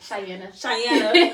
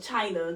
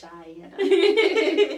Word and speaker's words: Chianna: How do you pronounce it? Chianna.